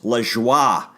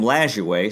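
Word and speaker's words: Lajoie: correct pronunciation of his name is Lee schwa and that's a it's a French name and but the public ended up calling him Lazio so I guess we'll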